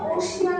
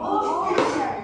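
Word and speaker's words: ocean: আমরা কিন্তু এটাকে কেউ ওশিয়ান উচ্চারণ করবো না, কি বলবো? ওশান। আবার বলি ওশান।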